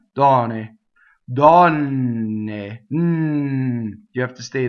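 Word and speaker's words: donne: Double N. Open O, close D at the end. So how do we make a double N? Well, this is a different kind of doubling. We don't stop phonation. We don't go Dɔnne to make a double N. What we do is we hold the N in a position while we phonate, right, on it. So it actually has pitch. I'll do it in slow motion.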